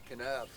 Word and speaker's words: Kanab: More specifically, we are planted right now somewhere between Kanab, however you say it. How do you say it, Brian? Kanab.